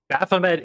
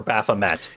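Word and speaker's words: Baphomet: Um, Baffomet is of French origin, so Baffome is the correct pronunciation, but I I prefer Baffomet.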